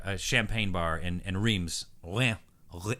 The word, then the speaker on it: Reims: Palais was like a champagne bar and and Reims oh yeah oh it's pronounced lean I was outside of champagne or